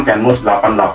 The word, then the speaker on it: Kenmust: Nah, online-nya ada yang dilakukan sendiri melalui media sosial, melalui Instagram kenmus88 atau kenmus.id. Bacanya boleh Kenmus atau boleh Kenmas ya, pokoknya suka-suka.